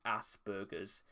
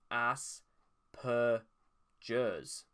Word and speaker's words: Asperger's: the american pronunciation is aspergers even though it's if you were to say aspergers you would i would assume there would be a b instead of a p but because there's a